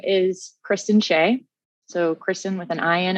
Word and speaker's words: Shea: my name is kristen shay so kristen with an ion at the end and shea is spelled like shea butter s-h-e-a would be a good